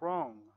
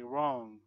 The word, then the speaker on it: wrong: guess silent W like wrong usually W is silent when there is R after the W so we say wrong rest right wrote who